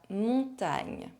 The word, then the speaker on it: montagne: GN is pronounced ng. It is a bit tricky for English speakers as there is no English equivalent.